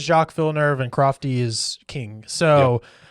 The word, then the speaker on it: Jacques Villeneuve: I believe it's Jacques Villeneuve. Yeah. Crofty says Jacques Villeneuve, and Crofty is king.